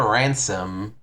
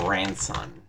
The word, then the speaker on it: Ranson: The name of the guy is actually Paul Ranson with an N. And everywhere they spell it as ransom. Like, it's Paul Ranson.